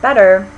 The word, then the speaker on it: better: We don't actually say them with a T. If you listen to them carefully, writer, it may sound like we're pronouncing them with a D, but it's actually not a full D sound either. Your tongue, when you say those words, is just sort of glancing off the roof of your mouth. It's not really making a full stop consonant.